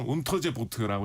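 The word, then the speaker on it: Unterseeboot: 그래서 제 2차 대전 당시에는 어 독 흔히 이제 우리나라에서 영어식 발음으로 유보트라고 하죠. 예. 독일어로는 온터제 보트라고 해 가지고 잠수함이라는 뜻인데요.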